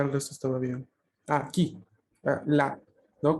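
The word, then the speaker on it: là: Cuando tenemos esta preposición de lugar, la, vamos a intentar abrir la boca un poco más, ¿no? Porque la A es abierta en este caso, ¿no? El acento en este caso agudo hace referencia a una abertura de la boca un poquito más de lo normal, justamente para poder reproducir este sonido, ¿no? No, no es la, sino la.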